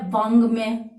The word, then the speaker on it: वाङ्मय: अब वाङ्मय का शाब्दिक अर्थ क्या होता है, वाङ्मय का शाब्दिक अर्थ होता है साहित्य, और यहां पर अपनों ने इसका शुद्ध उच्चारण देखा है, वाङ्मय यानी क वर्ग का।